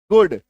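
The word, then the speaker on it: good: T double O डी गुड H double O डी गुड ठीक है तो अगर किसी शब्द में डबल ओ के बाद डी आ जाए तो भी उसका उच्चारण क्या होगा? छोटी उकार की मात्रा।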